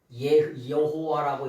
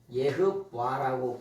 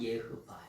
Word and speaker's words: 여호와: 그래서 다 독일어 발음으로 해요. 그런데 실제로 뭐냐면은 실제로 우리가 믿는 하나님을 발음할 때는 뭐냐면 이건 예흐바라고 발음을 해요. 예흐바. 원래 발음은 예흐바예요.